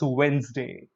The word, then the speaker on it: Wednesday: No, the D is silent here, so it's actually Wednesday. Look at the correct pronunciation. It's Wednesday. It's not Wednesday.